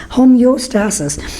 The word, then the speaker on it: homeostasis: it's a troll oh it's not homo guys you gotta you've gotta pronounce it correctly homeostasis which basically means that